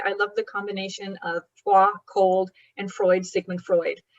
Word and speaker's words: Froid: So part of your story happens in Freud, which I would pronounce Froid, Montana.